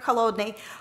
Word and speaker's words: Holodny: This researcher at Stanford, Dr. Holodny, was working, it's a Russian name, so I pronounce it in a Russian way.